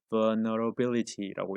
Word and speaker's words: vulnerability: 바로 age-related vulnerability, 여기서 L은 묵음입니다. 그래서 읽을 때는 vulnerability라고 읽는데 바로 나이와 관련 있는 약점, 우리 vulnerability 하면 원래는 취약점, 약한 부분을 이야기하는데 바로 약점이 되겠죠.